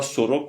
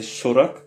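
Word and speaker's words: сорок: Sorak, ça se dit pas Sorak mais Sorak puisque l'accent est sur euh la première syllabe.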